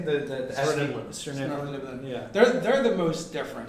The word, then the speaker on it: Svirneblin: Svirneblin.